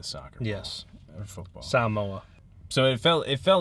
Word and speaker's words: Samoa: I already mispronounced s they kept saying s Samoa sa MOA white people say Samoa but that's not necessarily true or correct um just just hit